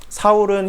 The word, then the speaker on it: 사울: 그래서 이름은 사실은 사울과 바울이 작은 자 큰 자 뭐 그런 게 아니라 사울은 히브리 발음이고 바울은 헬라 발음이에요.